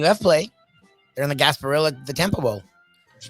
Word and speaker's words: Gasparilla: They're in the Gasparilla, the Temple Bowl, which is pretty cool. Gasp being the key syllable there. That's unfortunate.